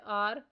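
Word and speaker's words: hour: Next word है आर। इसमें से साइलेंट लेटर एच बॉक्स में राइट करना है।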